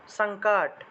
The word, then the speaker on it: সংকট: মত করে ন সানশায় সানকাট আমরা সংকট বলি না বাংলায় বলি সংকট কিন্তু সংস্কৃত আসলে সানকাট সানকাট এভাবে উচ্চারণটা আসবে সানকাট অর্থাৎ অনুস্বারটা শব্দের মাঝখানে থাকলে সেটাকে ন এর মত করে উচ্চারণ করতে হয় সানকাট আর শব্দের শেষে